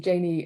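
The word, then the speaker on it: Gini: with um I've just seen Dan says it's pronounced Janie so I'm going to go with that let's do an example with Janie impurity I don't know if you're if this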